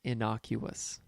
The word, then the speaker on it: innocuous: the word is pronounced innocuous there is no L in innocuous Jim also likes to